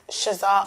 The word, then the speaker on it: ShezAr: my gosh the list goes on which is shazar only s h e z a r only